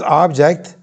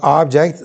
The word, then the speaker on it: object: One is object. You pronounce the first part of the word in a more stressed way. Stress the first part, object, then you say object, okay?